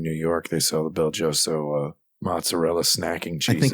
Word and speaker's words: BelGioioso: It's pronounced Belgioso, but yeah.